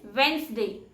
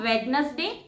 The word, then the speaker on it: Wednesday: The next word is witness day. And the correct pronunciation is Wednesday. It's not witness day, it's Wednesday.